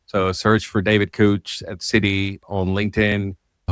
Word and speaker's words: Kuoch: Couch is how you pronounce his name. So, search for David Couch at Citi on LinkedIn.